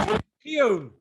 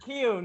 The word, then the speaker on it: Keohan: for it we have this week mr riccio yes hey there we go mr keown so hiya how are you doing i'm